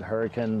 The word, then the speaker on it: Hurricane: in hurricane utah it's spelled hurricane but people pronounce it hurricane there's a ton of videos on the subject